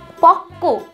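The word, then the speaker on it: পক্ব: তোমরা সবসময় মনে রাখবে পক্ক উচ্চারণটা যদিও বা পক্ক হচ্ছে, কিন্তু বফলা কিন্তু হবে প কয়ব পক্ক।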